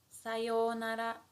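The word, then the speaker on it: さようなら: And how we pronounce it is sayonara, sayonara, sayonara.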